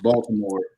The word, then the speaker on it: Baltimore: They're like, yeah, there's a T in there.